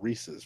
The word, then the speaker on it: Reese's: It has to rhyme with pieces, so Reese's Pieces.